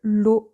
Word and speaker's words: l'eau: You don't pronounce them O at all, but together, for some reason, O.